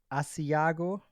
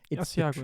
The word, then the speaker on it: Asiago: Um it is so my Italian pronunciation will probably be off but in a place called Aiago Asiago. Yeah I think that's right.